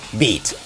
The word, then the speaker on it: 8347: we believe it's pronounced beat so like this eight is supposed to be B three is supposed to be e and for example for